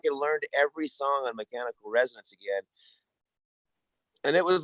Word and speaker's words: Mechanical Resonance: Hey, and you actually pronounced the name of it right, Mechanical Resonance. A lot of people go Renaissance, Mechanical Resonance.